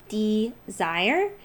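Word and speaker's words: DSIRE: rebates out there now check out the website desire and it's spelled d-s-i-r-e and that's a great website to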